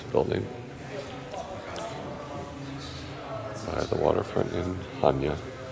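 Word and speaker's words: Chania: by the Waterfront in haa or chenia as it's spelled and photos of everything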